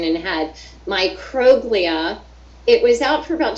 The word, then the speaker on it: microglia: cytokines, and I don't even know how to pronounce it yet. Microglia. Microglia.